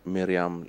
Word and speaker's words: Meriam: Mao um and your language how do you pronounce the name of your language my language is Miram language now I wonder know this is the